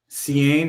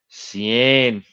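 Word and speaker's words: Seaine: it sounds like a great great Scrabble word Cen Heron Cen okay Cen c yeah Cen I I go Cen but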